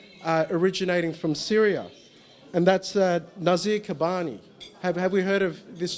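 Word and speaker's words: Nizar Qabbani: And that's Nazir Kabani. Have we heard of this gentleman before? Have I pronounced his name right? Nazar Kabani.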